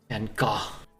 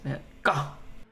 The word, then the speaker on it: Van Gogh: Van Gogh, it's pronounced. Van Gogh.